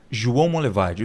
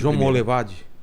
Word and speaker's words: João Monlevade: no rio não em Minas Gerais como chama João Monlevade duvido você conseguir pronunciar corretamente João Monlevade João Monlevade e isso vamos levar perto de